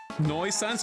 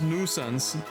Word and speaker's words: nuisance: I kind of lie a nisance is it noisense or nuisance noisense I said I said noisense is it nuisance okay it's nuisance is it's pronounced nuisance Okay.